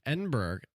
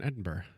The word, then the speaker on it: Edinburgh: it is oh okay edinburgh is a disneyland borough i said in edinburgh no you said and pronounced a hard g on there i cannot wait for